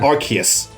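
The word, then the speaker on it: Arceus: yeah Aus is yeah Aus is a weird one pronounce some people put it archus is it archus AR I always say archus cuz I don't I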